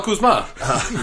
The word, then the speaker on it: Kuzma: you pronounce that? Kyle Kuzma.